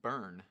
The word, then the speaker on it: Byrne: It's pronounced Burn. Thank you, Burn.